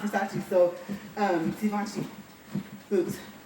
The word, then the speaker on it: Givenchy: Like I said, I've told you guys before, I read that the G is said like an S, kind of say it almost like they're saying vision.